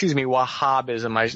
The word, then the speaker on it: Wahhabism: last 30 years ginning them up on Wahhabism, Wahhabism, it's the right way to say it, the